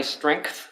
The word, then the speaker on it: strength: I realized early it wasn't my strength. I'm trying to pronounce my G in strength, because I just say strength, and then my girlfriend said, no, you had to pronounce the G.